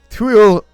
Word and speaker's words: Cruo: This week's railway fact is all about the Cruo locomotive.